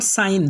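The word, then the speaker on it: sign: इसके बाद का नेक्स्ट रूल है, जब जी के बाद एन आ जाए तो जी साइलेंट होगा।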